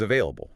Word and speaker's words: available: Listen to the V sound there, where your top teeth touch your bottom lip.